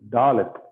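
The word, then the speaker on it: דָּלֶת: This is Dalet. So the sound is D as in door. So when you pronounce door, so the da sound is what called Dalet sound.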